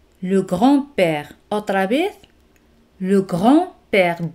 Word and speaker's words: grand-père: Le grand-père. D no se pronuncia.